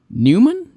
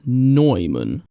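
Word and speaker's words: Neumann: Newman Noyman. Hold a second. I need to look up how to pronounce that. Generally, it's pronounced like Noyman.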